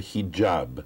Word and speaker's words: hijab: We've called this a hijab. Mm-hmm. Is that pronounced correctly?